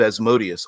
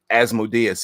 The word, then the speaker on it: Asmodeus: He's the son of Asmodeus, or Asmodeus, if you want to pronounce it that way as well.